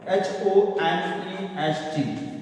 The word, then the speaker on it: honest: So here, although it is H is consonant in English, but the pronunciation of this word begins with the vowel sound.